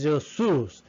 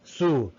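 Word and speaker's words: Sioux: in the great plain is zeus zhu uh it is it has to pronounce it but sue they're living in wisconsin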